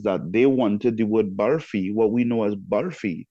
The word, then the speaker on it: barfi: they wanted the word barfi, what we know as barfi, they wanted it pronounced barfi, like a BHHARFI, barfi.